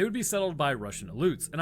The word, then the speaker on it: Aleuts: During the town's first push to develop, they would be settled by Russian Aleuts. And I'm pretty sure it's pronounced Aleuts because of the Aleutian Islands.